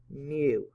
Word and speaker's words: mu: Okay, pronounced mu.